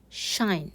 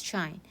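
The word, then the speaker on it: sinh: the hyperbolic sine or we call it as shine we pronounce it as shine so it is spawn and x minus that spawn and negative x divides by 2.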